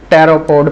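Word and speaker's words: pteropod: है गिलो बैगरी और टैरो पोड पी साइलेंट है टैरो पोड तो ये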